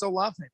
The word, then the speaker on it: Olave: Maybe Dak has a question, but before I ask it, did we ever agree on the pronunciation? Is it Olave? It's Olave.